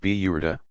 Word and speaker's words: Burda: A very popular part of the festivities is the recitation of a poem by the 13th century Egyptian poet Bizari, the Burda, pronounced Biyurda, mantle.